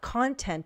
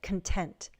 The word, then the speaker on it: content: Make sure you get the stress correct, right? Not content, but content.